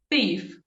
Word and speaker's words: thief: E aí a pronúncia com a língua entre os dentes. Thief. Thief, o ladrão.